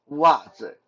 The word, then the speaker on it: 袜子: In Mandarin, socks is called 袜子, 袜子, WAJE, 袜子. Again, technically just 袜, but Chinese people really hate single syllables, so we sometimes will add 字 in the end to make it easier to say.